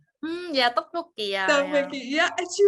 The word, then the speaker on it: tteokbokki: makes I don't know if that's how it's pronounced, tteokbokki. Yeah, tteokbokki.